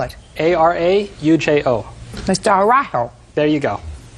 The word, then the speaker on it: Araujo: Araujo. Slower. Araujo. Spell it. A-R-A-U-J-O.